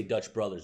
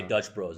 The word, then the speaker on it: Dutch Bros: out and i say dutch brothers it's just bro i say dutch bros i gotta make sure